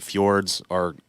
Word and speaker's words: fjord: And then the other thing I wanted to see, like the fjords look gorgeous.